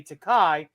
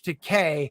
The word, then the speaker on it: Takei: takai all my life my name is George Takei it rhymes with toupee yeah you know what